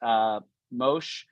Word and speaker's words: Mosheh: But I'm joined here today by our first guest, Mosheh. Did I pronounce it correctly?